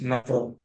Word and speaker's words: NFRA: Financial Reporting Authority, NAFRA, pronounced NAFRA, NFRA, but some popularly pronounced as NAFRA. We sort of aspirate that N and F, though there is no consonant, we supply a consonant there and say NAFRA.